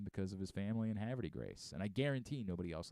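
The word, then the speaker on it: Havre de Grace: lifelong Orioles fan because of his family and Haverty Grace and I guarantee nobody else on the team knows how to pronounce Haverty Graves somebody said to Jackson holiday last night hey did you mean Harve De Grace yeah Harvard Harvard I mean that's by the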